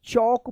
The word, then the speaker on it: chalk: यहाँ पे भी क्या है, एल साइलेंट है, तो क्या होगा, CH से चौ होता है ना, तो चौक पढ़ेंगे।